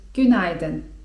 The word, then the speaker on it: günaydın: Rano, do południa możemy powiedzieć: günaydın (czyt. günajdyn) I to po prostu 'dzień dobry'.